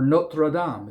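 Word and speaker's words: Notre-Dame: And the other one that wasn't on the list that I think is just great is The Hunchback of Notre Dame or Notradam if you want to say it correctly.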